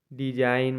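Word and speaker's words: design: एस आई जी एन डिजाइन मतलब बनावट होता है यहां भी आपका जी साइलेंट है एफ ओ आर ई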